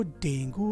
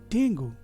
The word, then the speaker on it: Dengue: कह रहे हैं लोग कि उसको डेंगू हो गया है। डेंगू, क्या ये इस शब्द का सही प्रोनाउंसिएशन है? नहीं, इस शब्द का सही प्रोनाउंसिएशन है डेंगी। इसका सही प्रोनाउंसिएशन है डेंगी। डेंगी।